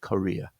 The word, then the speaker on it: Korea: I think the sound of the first syllable is more like Korea. Yeah, but very, very subtle difference.